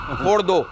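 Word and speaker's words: Fordow: किसी ने कहा मेजर साहब कि फोर्डो की स्पेलिंग बनती है FORDO, फोर्डो। अब ये फोड़ दो कह रहे हो और फिर इजराइल की क्या गलती है?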